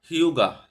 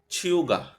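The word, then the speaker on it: 휴가: একটু ব্যতিক্রম উচ্চারণ হবে এটা আমরা যদি নরমালি উচ্চারণ করতে যাইতাম তাহলে হিউগা হিয়োগা হইতো আসলে এটার উচ্চারণটা এরকম হবে না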